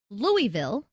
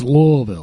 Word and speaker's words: Louisville: Orleans right New Orleans is it Louisville or its Louisville thank you want to sleep whoa